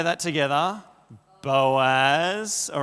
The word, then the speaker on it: Boaz: You got to pronounce every letter of that. Boaz.